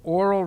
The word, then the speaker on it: oral: If you hear, or oral reception, okay, so there's oral, O-R-A-L, and there's oral, A-U-R-A-L. A-U-R-A-L means hearing. O-R-A-L means speaking. Okay? They're pronounced exactly the same.